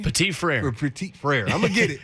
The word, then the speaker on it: Petit-Frere: Petit-Frere.